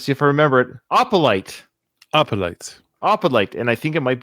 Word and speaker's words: Opalite: The next one is called, we looked up the pronunciation. Let's see if I remember it. Opalite.